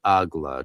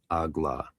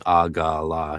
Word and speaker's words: AGLA: It is Ehye and Agla traditionally in the GD. Ehye, Agla. Though somebody, I guess he's criticizing him for doing Agala.